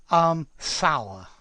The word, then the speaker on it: sour: So, Sandeep, sour. It rhymes with hour and, what else does it rhyme with? Cower. How are you? Yeah, how are you? How are you? Yeah. Okay. So, yeah, hour. Sour.